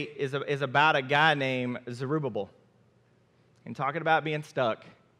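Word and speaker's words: Zerubbabel: gonna talk today is about a guy named zerubabbel and talking about being stuck it's taking me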